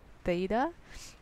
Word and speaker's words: theta: called fada th e ta okay its spell theta or is pronounced theta i'm giving you two legs here